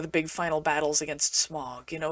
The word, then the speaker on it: Smaug: perspective with that hope yes i know it's written s-m-a-u-g but how does one pronounce that smog or smog i like the first one anyway the finale is